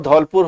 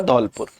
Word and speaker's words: धौलपुर: और कोटा से यह वापस से मुड़ती है और वापस से मुड़ने के बाद यह बूंदी और सवाई माधोपुर और धौलपुर होते हुए यह उत्तर प्रदेश में एंटर कर जाती है।